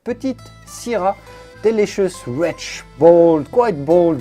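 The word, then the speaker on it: petite: is called petit sierra yes in this case we do say the t at the end of petit because there's an e after it put it delicious rich bold quite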